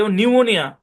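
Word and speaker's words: pneumonia: শুরুতে আছে পিটা সাইলেন্ট নিউমোনিয়া একটা রোগ এখানে দেখেন পিএন শব্দের শুরুতে আছে পিটা সাইলেন্ট চলেন তার আরো কিছু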